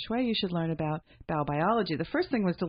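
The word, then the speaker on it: Baubiologie: to do Feng Shui, you should learn about Bau-biology.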